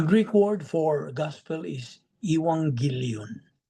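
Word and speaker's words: εὐαγγέλιον: If I ask you, well, the Greek word for gospel is ewangilon. E U A G E L I O N Iwangillion. That's how it's pronounced in uh the Greek.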